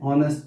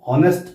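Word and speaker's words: honest: Rakesh is एन ऑनेस्ट person. ध्यान रहे, कई छोटे जो बच्चे होते हैं उसको हॉनेस्ट पढ़ते हैं, हॉनेस्ट नहीं पढ़ा जाता, उसको एच साइलेंट है इसमें, तो ऑनेस्ट।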